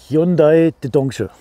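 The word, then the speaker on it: 현대자동차: Hyundai Dedongche. Hyundai Dedongche. So wird Hyundai übrigens korrekt ausgesprochen, womit geklärt wäre, worum es heute geht.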